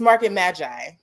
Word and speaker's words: Market Magi: Yes, Market Magi. See, I had a hard G in there.